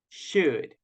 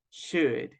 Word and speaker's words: should: sound is this one should should remember the letter O is mute and the letter L is also mute so in those cases